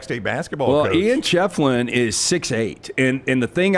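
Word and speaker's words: Schieffelin: LT, help me with the name pronunciation. The big Ford basketball player at Clemson, Ian, was it Shefflin? Yeah, Shefflin.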